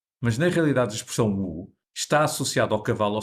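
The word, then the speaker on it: 五: Outra interpretação associa o som Wu à palavra 5 em chinês, Wu. Também se pronuncia Wu no terceiro tom. Wu.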